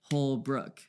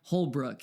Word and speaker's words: Holbrook: And we like say it like Holbrook. Okay, 2 syllables.